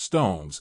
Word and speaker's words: SixTONES: Juri Tanaka, the rapper, vocalist, and dancer for the rock pop group SixTONES, pronounced Stones, is just as subtly aspirational as his ACMAGAME, Prime, persona.